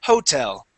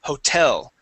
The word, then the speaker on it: hotel: uh repeat that okay because when you came through here you said police Hotel okay all right because that's a common mistake the word is Hotel okay just like in Spanish all right that word